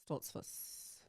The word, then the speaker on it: Stoltzfus: Basically, just put a sock in your mouth and try to say it, and you'll say it right.